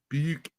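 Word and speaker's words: Buek: Buke.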